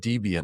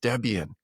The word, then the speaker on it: Debian: By the way, you said DBN. I've not heard it pronounced that way. It's Debian, Chris.